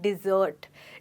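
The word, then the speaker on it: dessert: Well दोस्तों ध्यान से सुनिएगा, मैंने यहाँ पर बोला है डिज़र्ट। डिज़र्ट का मतलब होता है खाने के बाद कुछ मीठा खाना, और डेजर्ट होता है रेगिस्तान। फिर से सुनिए, इनकी प्रोनाउंसिएशन में काफ़ी फ़र्क है। एक है डिज़र्ट यानी कुछ मीठा खाने के बाद, और एक है डेजर्ट जो है रेगिस्तान। तो आपको केयरफुल रहना है और इन दोनों वर्ड्स की प्रोनाउंसिएशन को मिक्स नहीं करना है।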